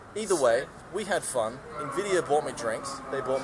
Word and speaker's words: Nvidia: I'm sorry, I find it humorous that you say Nvidia instead of Nvidia, because one is a brand of like hand lotion and the other is a graphics card company. Nvidia. Nvidia.